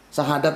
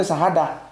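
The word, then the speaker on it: شهادة: Sahadat itu harusnya sahadah.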